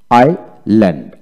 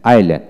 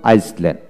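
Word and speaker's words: island: যেমন আইল্যান্ড, আইল্যান্ড। আমরা আগে পড়তাম আইসল্যান্ড, না আইল্যান্ড, আই এস এল এন ডি।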